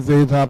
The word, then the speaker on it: zeta: Okay, so we replace cosine theta t with s times cosine zeta plus j sin zeta.